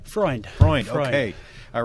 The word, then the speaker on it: Freund: Freund.